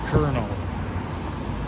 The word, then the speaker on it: Colonel: It's spelled colonial, but it's pronounced Colonel, believe it or not.